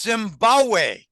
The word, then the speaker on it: Zimbabwe: said no Zimbabwe the second big in Zimbabwe is silent it's Zimbabwe he believes that Zimbabwe is going to be